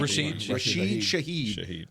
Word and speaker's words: Rashid Shaheed: Rashid Shaheed.